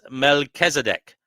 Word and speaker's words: Melchizedek: And Divine Hazel says it is Melchizedek.